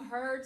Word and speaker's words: Heard: Heard like you heard something. Which you should. Yeah. And I'm hoping that you heard something today that was